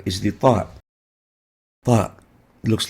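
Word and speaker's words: ط: We call it Ta, Ta. To learn how to pronounce it, start with a T. Ta is similar to the Ta, like the T sound, but more emphatic.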